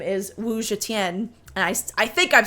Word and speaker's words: Zetian: But again, it's spelled Zetian, and I would have just, like, totally butchered that in my anglophone way and said, like, Zetian or something like that when reading it, or Zadian, who the heck knows.